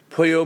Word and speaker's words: pollo: horse and telling jokes and singing songs, beware Pollo Maligno, the evil chicken. Yes. Pulo? I don't remember how to pronounce.